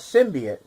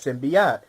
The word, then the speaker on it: symbiote: I've read the comment I always pronounce the alien venom as symbian and I understand some people will pronounce it as sin beot both of those are fine because in the cartoon